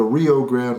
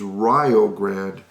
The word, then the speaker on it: Rio Grande: course down in Texas the Rio Grande river which is Rio Grande here in Ohio so there's a lot